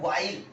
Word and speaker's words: while: तो इसको बोलते हैं वेयर एज, इसको बोलते हैं वाइल। इन दोनों में एच जो है साइलेंट है ना।